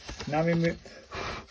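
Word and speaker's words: ん: it's this one, and this is a N, pronounced like just the N in sound in ink.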